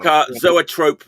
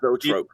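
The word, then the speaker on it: zoetrope: It fits for street like zoatrope not pronounced zotrope.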